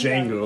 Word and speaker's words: Django: the django the gender django the d is silent oh god that's a